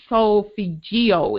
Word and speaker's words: solfeggio: Now, the ancient musical note scale is called, and I never pronounce it right, solfeggio. It's SOLFEGGIO scale.